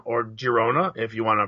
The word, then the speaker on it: Girona: So, just before we got on, we saw our friends at NYCFC Nation posted that there's a rumor that Girona, or Girona, if you want to pronounce it phonetically.